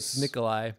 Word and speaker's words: Nikolaj: nikolaj nikolaj uh Laos Nikolai but yeah oh why is there a j though that's because that's how you pronounce the J in some of those Scandinavian languages disgusting yeah all right